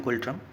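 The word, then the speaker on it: Ngultrum: एंड यहाँ पर silent रहेगा गाइस। इसकी जो करेंसी है भूटान की उसको प्रोनाउंशिएट करते हैं हम गुल्ट्रम।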